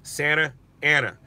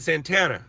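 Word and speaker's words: Santa Ana: also like I was telling that guy it's Santa Anna he's like no we pronounce it Santana I go that's fine but it's Santa Anna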